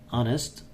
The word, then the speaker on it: honest: honest often or often honest this Edge is silent and communicative or communicative